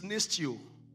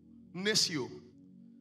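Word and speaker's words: νηστεύω: reward for fasting is nestio. Nestio. I will spell it for you, but you are not a Greek person. You don't need to. N-E-S-T-E-U-O. Nestio. It's pronounced nestio in Greek.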